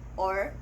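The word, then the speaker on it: を: roman g as o or wall but when it is used as a particle it is pronounced as o with a silent w it makes a direct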